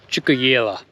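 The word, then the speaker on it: Tjukayirla: The fella in the Roadhouse just said Chukayela is how it's pronounced.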